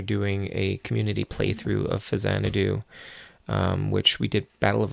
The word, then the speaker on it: Faxanadu: Famicom version of Xanadu, so it's Phazanadu. Although I believe Captain N, I think, called it Faxanadu, which is why a lot of people call it that. Plus, it also looks like it's pronounced Faxanadu.